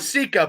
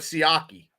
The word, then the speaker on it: Siaki: Was that Siaki? Yes. Ika? Yes. Like not Sika, but Siaki. Ika.